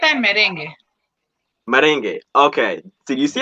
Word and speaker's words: merengue: It's bachata and merengue.